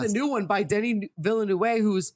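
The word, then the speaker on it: Villeneuve: new one by denny villanue who's it's a beautiful so good but is that how you pronounce that view in the way yeah villanue yeah it's french i want to yeah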